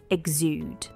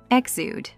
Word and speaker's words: exude: how it's pronounced sure it's a two syllable word egg zude exude exude and the stress is on the second syllable am I right yes the stress is on zude exude so exude is a